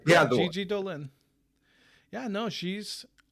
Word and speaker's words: Gigi Dolan: Did I pronounce that right? Yeah, Gigi Dolan.